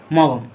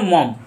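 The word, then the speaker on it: Maugham: হয়েছে আর এই স্টরিটাকে লেখেছে কে উইলিয়াম সমরসট মগম বা এটাকে বলে মম এখানে জিটা এটা উচ্চারণ হয় না মম বলা হয় ঠিক আছে তো উলিয়াম সম কথা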